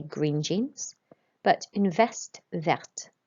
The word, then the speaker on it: verte: So we'd say un jean vert to say green jeans, but une veste verte. And you'll notice that we pronounce the T when it has an E at the end as well.